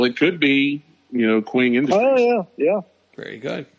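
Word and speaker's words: Qeng: on the avengers tower which is queen which is key q-e-n-g queen queen but here's the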